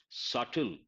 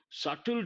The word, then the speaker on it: subtle: one word I use subtle here be silent subtle difference when it comes to the shades means what subtle means a slight the letter B is silent and blip usually it